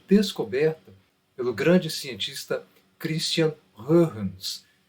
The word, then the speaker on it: Huygens: pelo grande cientista Christian Huygens. Normalmente você conhece como Huygens, que é a maneira como se escreve o nome, mas a pronúncia correta é Huygens.